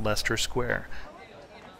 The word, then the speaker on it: Leicester Square: price ticket booth at Lester square and Lester Square which certainly doesn't look like it's spelled that way is the heart of